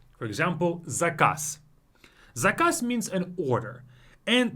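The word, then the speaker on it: заказ: We use this trick whenever a word ends on a voiced consonant. For example, zakaz.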